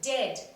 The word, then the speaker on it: dead: bird heard bird similarly the word dead is pronounced like it rhymes with the word bed though they have different